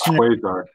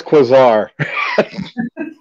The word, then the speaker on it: Quasar: It's Quasar. Hang on. It's, oh my God, it's Quasar. It's Quasar. The British pronunciation is it's Quasar, and the U.S. pronunciation is Quasar.